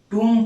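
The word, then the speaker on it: tomb: और ये टूम, ये भी विशेष है इसमें, इसे टूम पढ़ा जाता है, बी साइलेंट होता है इसमें।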